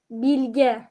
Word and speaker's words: Bilge: word pronounced? Bilge.